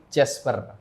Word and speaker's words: Jasper: Bukan Casper bukan ya? Oh, bukan. Bukan ya. Bukan Casper ya teman-teman ya, tapi Jasper itu pronounce-nya. Oke, Jasper, ada nggak sih